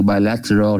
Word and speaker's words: bilateral: Trong mấy cái chữ này mình có chữ bilateral thì là hai bên, nó đọc là bi chứ không phải đọc là bi nha. Bilateral. Nếu mà theo người Mỹ đọc thì chữ tờ nó sẽ lướt lên bilateral. Còn nếu mình đọc đúng như người Anh thì bilateral cũng được.